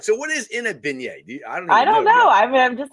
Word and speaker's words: beignet: know but I'm just there for Bengals and Beignets that's all yeah yeah beignet that's it the